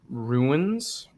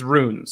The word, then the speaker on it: runes: you get for question that's like a normal word ruins runes runes it's runes there's no there's no I it's not R that's not like